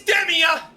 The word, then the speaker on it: Demea: And my name is Demia.